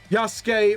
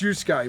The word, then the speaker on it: Yusuke: Yasuke Moderada. Is that the... Yasuke? Is that how you pronounce it? Or Yusuke? No, it's Yusuke Moderada.